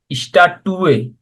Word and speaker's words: Statue: হ্যাঁ, স্ট্যাচুর আর্টিকেল হলো ডি, স্ট্যাটুয়ে। তারপর হবে das ist না, ডি ein উচ্চারণ হলো ডি স্ট্যাটুয়ে, তারা হবে দাস ইজ আইনে eine স্ট্যাটুয়ে।